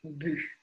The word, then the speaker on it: but: Слово «but», «but» читается двумя способами разными. Это свобода. Как хотите так называть. Я говорю больше «but». Не больше, я практически всегда говорю «бют». Но я знаю многих людей, которые говорят «бюх».